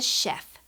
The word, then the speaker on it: chef: This is a chef. A chef is someone who cooks. He's wearing a chef's hat. CH makes the sound that you hear at the beginning of the word chef.